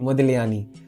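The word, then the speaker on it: Modigliani: उसने Paulo Picasso Henry मटीस और मोदीयानी मोदिलयानी ऐसे ही बोलते हैं। जी साइलेंट है।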